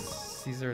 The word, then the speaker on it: Caesar: I think that blew your mind was finding out that Caesar is actually pronounced closer to Kaiser than it is the Tsar.